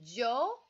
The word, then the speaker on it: yo: yo - L yeah you said nosotros nosotros a yes a us ustedes awesome and then so I just noticed with your pronunciation it's Joe so Joe instead of yo and then when you're